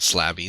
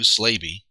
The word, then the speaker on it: Slaby: Not Slabby, Lou Slaby.